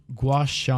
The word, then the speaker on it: gua sha: But it's gua sha. Gua sha. Washa.